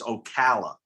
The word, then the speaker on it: Ocala: up in there all right you yankee it's ocala oh my god i was gonna say that